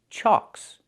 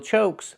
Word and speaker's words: chocks: The ck is a double consonant that makes the previous vowel short. So we have the a sound like in socks and blocks. It's an open sound. Ah. So it's pronounced chalks. Chalks. Wheel chocks. Not wheel chokes, but wheelchocks. These are wheel chocks.